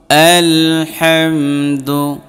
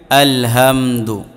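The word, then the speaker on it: الحمد: রাজিম বিসমিল্লাহির রাহমানির রাহিম আলহামদু আলহামদু দেখেন অনেকেই পড়েন আলহামদু এটাকে মানে বড় করে পড়েন না এটা হচ্ছে ছোট হা গলার মাঝখান থেকে উচ্চারণ হবে এটা হাঁ ঠিক আছে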